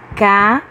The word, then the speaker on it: casa: para mais um exemplo na palavra casa a casa notamos que a sílaba cá foi pronunciada mais fortemente do que a sílaba assar por isso dizemos que ela é a sílaba tônica e de acordo com